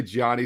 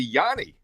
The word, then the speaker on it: Gianni: I've always said, I say Johnny, some say Johnny, so I asked you, and it's actually Yanni. Yes, sir. Yes, sir. Like the musical guy back in the day, Yanni, right?